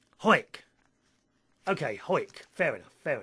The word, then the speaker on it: Howick: Howick, where Ian lives, it is pronounced Hoik. Hoik.